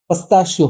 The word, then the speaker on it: pistachio: देखिए, जो पिस्ता शब्द है उसका सही प्रोनाउंसिएशन पिस्ताशियो होता है, लेकिन हम लोकल लैंग्वेज में इसे पिस्ता बोलते हैं, तो फिर यहाँ पर भी हम पिस्ता ही बोलेंगे, पिस्ताशियो शब्द का इस्तेमाल नहीं करेंगे।